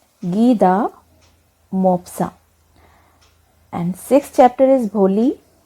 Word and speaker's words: Guy de Maupassant: Fifth lesson is The Necklace, written by a French writer whose name is pronounced as Guy de Maupassant. Guy de Maupassant.